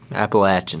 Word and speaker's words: Appalachian: um like the lower Appalachian Mountains. Appalachian. How do we say it again? Appalachin. Appalachin. People from North Carolina, Tennessee get real upset if you don't say it correctly.